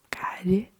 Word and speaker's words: calle: We pronounce it as llamo, calle, yo, ya, calle.